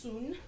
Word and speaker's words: Sun: a style called the soon style it's spelled like Sun s UN but pronounced soon and it is this